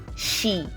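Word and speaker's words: 시: Also, before the vowel E, it is usually pronounced like the SH sound. So it becomes she, she.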